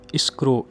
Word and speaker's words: escrow: अब एक और हमारे पास लफ्ज़ है इस्क्रो, ESCROW। इस्क्रो आपकी वजह से मैं फारसी का व्यूअर सेल्फ मैं आप इसको स्पेलिंग इसलिए स्पेल कर रहा हूँ ताकि आपको कोई इशू ना हो।